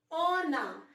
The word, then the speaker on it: on a: Do you see the linking that I've created here? And I've written N on it. So this N will have a sound with A. On a. This is what we call liaison in French.